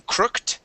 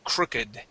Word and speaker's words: crooked: it as a verb we actually pronounce that Ed okay so this word instead of being crooked okay because it is describing the rear view the rear view mirror okay this is an adjective we pronounce that crooked okay try that Constantine